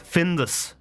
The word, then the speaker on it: Findus: Findus. Findus. I like Findus. Findus is spelled with a U.